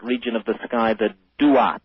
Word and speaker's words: Duat: The ancient Egyptians spoke of a special region of the sky, and they called that region of the sky the Duat. It's spelled D-U-A-T when you transcribe it into our alphabet.